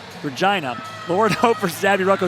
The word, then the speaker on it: Regina: And they both come from the team SAS Buck Hunters in Regina, Saskatchewan, which rhymes with fun. Regina.